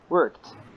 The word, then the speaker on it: worked: is worked not yes it is ends with Ed but pronounce as T worked worked yes I worked in